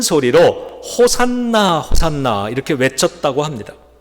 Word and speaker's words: 호산나: 둘째로 군중들은 큰 소리로 호산나 호산나 이렇게 외쳤다고 합니다. 호산나는 히브리어인데요. 호시나 호시아 호시아나 이런 발음이고요.